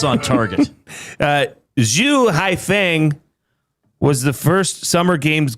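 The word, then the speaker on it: Xu Haifeng: So it'd be like Haifeng Zhu, but they pronounce it Zhu Haifeng.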